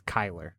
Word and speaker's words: Chyler: It's Chyler spelled with Leigh. a C-H-Y, but it's Chyler.